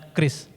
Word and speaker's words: QRIS: biar God reeindonesia standart yang dibacanya Kris Nah itu merupakan standar